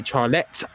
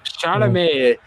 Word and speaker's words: Chalamet: Paul being played by Timothy Charlet. I'm not sure about the second name pronunciation. Timothy Chalamet. Chalamet.